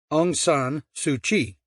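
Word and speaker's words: Aung San Suu Kyi: I said how's that angan sui I said that's how you pronounce it then why spell it with a ky well I said that's Burma for you if you ask me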